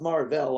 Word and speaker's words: Mar-Vell: Well, it's pronounced Mar-Vell on their planet.